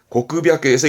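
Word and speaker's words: 黒白: 발음은 고크비아크에서 이때는 비아크됩니다.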